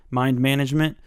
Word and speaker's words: Mind MGMT: the notable ones are mind MGMT which i think is pronounced management mind management by Matt Kent he